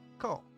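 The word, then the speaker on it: コ: Ko. Alright, pronounced like ko, as in cola or kora.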